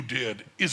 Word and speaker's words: Dedi: It's Dedi or Didi? D-E-D-I? Didi, yeah. Didi, is that the way it's pronounced? Yeah.